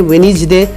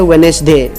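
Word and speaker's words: Wednesday: आ गया है सही प्रोनाउंसिएशन है वेडनेसडे और गलत है वेडनेसडे।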